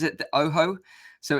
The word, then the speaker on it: OJO: move on let's talk about there the ASA Oh Jo 500 headset what is that is that a